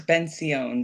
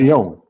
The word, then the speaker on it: Benzion: Yeah, My and last name is Benzion. That's how it's pronounced. Benzion.